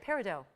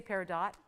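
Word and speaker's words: peridot: else par oh good parado yeah I know the tea is silent isn't that funky yeah but you can say paradot but parid yeah parido parido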